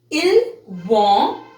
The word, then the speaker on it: ils vont: Here you will not pronounce S because it's not a vowel here. It's V. So it's ils vont, which means they go